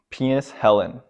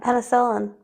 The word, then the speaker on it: penicillin: like sir yeah yeah penis Helen thoughts I have no thoughts on that penis Helen yeah no thoughts it's really good for bacteria oh penicillin how are you saying it penicillin oh what did I